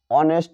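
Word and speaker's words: honest: যেমন হি is dash এখানে অনেস্ট ম্যান এইচ এর উচ্চারণ অর মত হয়েছে যার কারণে এ না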